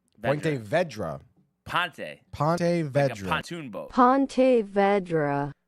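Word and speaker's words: Ponte Vedra: get lady back let's see what she says Pon Vedra Pon Vedra pon pon VRA pontoon Pon Vedra Pon Vedra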